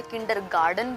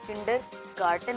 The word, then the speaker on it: kindergarten: Parents क्या है इसको मिस प्रोनाउंस कर देते हैं, उसे किंडरगार्टन बोल देते हैं। तो किंडरगार्टन नहीं, किंडरगार्टन होता है, KINDERGARTEN, किंडरगार्टन, ओके, यानी कि इसको बोलते हैं बच्चों का स्कूल, किंडरगार्टन।